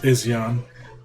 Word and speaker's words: Izyan: And I think with our baby, and his name's Izyan, by the way, it's pronounced Izyan.